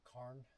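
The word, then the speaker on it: cairn: These are rock cars or karns. Karens. Karens. I think if you pronounced it the way the Scottish intended it and it's corn.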